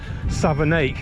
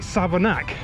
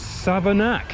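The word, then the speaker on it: Savernake: read this on the map it's it reads southernique because it ends in AKA but locals call it savanak but I don't know why because it's Southern egg as in bake Lake take make sake but it's savanak but like Cheryl Hill it's pronounced it's written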